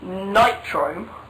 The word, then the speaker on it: Nitrome: annoys me is the way that different people pronounce it in different ways now um i personally call it nitrome post what you think if you think it's